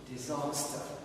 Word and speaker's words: disaster: So here where's the stress? Disaster. Disaster. Okay. Of course stress is in the second syllable. It's here. Disaster.